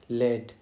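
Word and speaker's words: lead: दूसरा है homographs with different pronunciation. जिसकी प्रोनाउंसिएशन अलग हो। मीनिंग भी अलग हो और प्रोनाउंसिएशन भी अलग हो। जैसे कि इसके एग्जांपल में हम देख सकते हैं इसका लेड। लेड क्या होता है? एक तो हो गया हमारा लीड।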